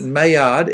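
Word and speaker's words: Maillard: what I agree that mayard m a l a r d notice how I didn't uh pronounce the L are the best chemical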